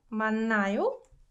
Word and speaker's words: 맞나요: So 만나요 and 만나요, although they're spelled differently, they are pronounced exactly the same, right?